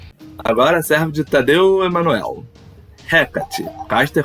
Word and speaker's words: Hecate: A pronúncia correta é Hecate. Ok, se preferir. Hecate, se preferir, também conhecida como Perseia, é uma deusa grega, quase desconhecida e pouquíssimo mencionada nas principais lendas gregas.